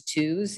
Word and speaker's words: Tews: So my last name is Tews, even though it's spelled Tews, sounds like a two.